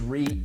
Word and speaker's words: REIT: It is REIT. Rhymes with beet, rhymes with sweet, all that.